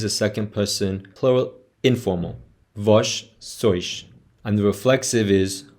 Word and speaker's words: vós: When you're using the subject pronoun vós, the direct object pronoun is vos. Pay attention to the pronunciation of vós as a subject pronoun and the direct object pronoun vos.